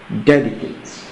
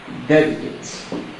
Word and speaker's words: dedicate: pronation see AG with us this word is pronounced dedicate dedicate so as mentioned earlier our answer therefore is